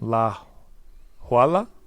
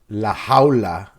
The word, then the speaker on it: La Jaula: So Bahamondes, Omar, how do you pronounce his nickname? La Huala? La Jaula.